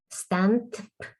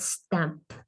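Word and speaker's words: Stannp: campaign on stamp okay it has a double n but it's not meant to be pronounced as stant but stamp but it's just an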